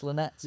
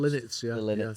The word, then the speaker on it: Linnets: Linnets Linnets. How's it pronounced? Linnets, yeah.